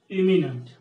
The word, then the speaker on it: imminent: Here this E will be pronounced as A, but here you will see the pronunciation changing into imminent.